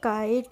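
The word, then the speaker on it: kite: mile अब है हमारा के आई टीई तो के आई टी को पढ़ते हैं हम काइट कैसे पढ़ते हैं हम काइट किटे नहीं पढ़ते हैं हम इसको पढ़ते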